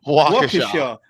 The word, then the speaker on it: Waukesha: How do you pronounce that? Waukesha.